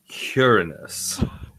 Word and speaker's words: Uranus: Uranus. So- It's pronounced Uranus.